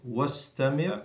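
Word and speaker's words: وَاسْتَمِعْ: So undur, wastami', we don't pronounce the hamzat al-wasl because in the middle of the sentence, so you go straight to the scene, wastami'.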